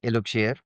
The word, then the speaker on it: Eluxier: So um our brand name is Iloir. uh this is how we pronounce it and our tagline the the the